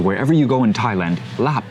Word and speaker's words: laap: So wherever you go in Thailand, laap is going to be pronounced laap, right?